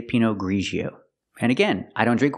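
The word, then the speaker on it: Pinot Grigio: wine is not pronounced P ggio it's pronounced pinio we use the sound like in measure and pleasure like Division and usual Grio Pino ggio I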